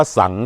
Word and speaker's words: สังข์: ขอ เสนอ คำ ว่า สังข์ ครับ คำ ว่า สังข์ ออก เสียง ว่า สัง คือ กัน ครับ คำ ว่า สั่ง